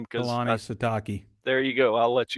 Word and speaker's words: Kalani Sitake: I don't want to mispronounce his name because Kalani Sitake.